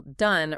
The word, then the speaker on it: done: And the past participle done rhymes with sun or fun.